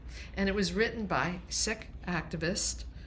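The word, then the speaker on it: Sikh: it was written by sick activist. People used to use the term seek but the correct pronunciation is sick.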